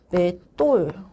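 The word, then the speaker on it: 맷돌: 매돌. 보통은 이렇게 발음이 되죠. 에서 시옷이 발음되지 않고 된 소리로 바뀝니다.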